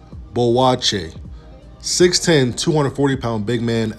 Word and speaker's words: Boakye: down next Enoch Bloch it pronounced bull watch a 6-10 240-pound big